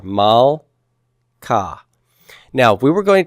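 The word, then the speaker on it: מלכה: How would I pronounce this first word on the left? Malka. Malka. Where would I divide my syllable here? After the L, because this is, as I see the Shiva, I look to the right, I see that's a short vowel, so the Shiva is silent, and so I'm going to divide right there.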